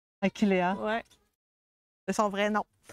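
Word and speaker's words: Achillea: Mais euh Ouais, dans les noms latins, le H, on les prononce pas. Puis les les E non plus. Fait que c'est une Ailéa. Aquiléa Ouais, c'est son vrai nom.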